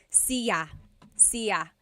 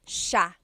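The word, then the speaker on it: siya: It looks like it should be pronounced sa cia. But it's actually pronounced sha sha. So the s i y it's a sha sound.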